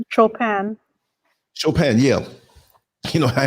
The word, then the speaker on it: Chopin: shop show how do you say his name chopin chopin yeah you know i had a guy in school he confused me all the time he always say chopping i'm like i heard his voice like the